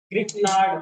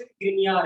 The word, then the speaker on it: Grignard: हमारे ऑर्गेनिक के लिए, ग्रिग्नार्ड। वैसे इंडियन इसको ग्रिग्नार्ड बोलते हैं, बट वैसे प्रोनाउंस ग्रिनियार है।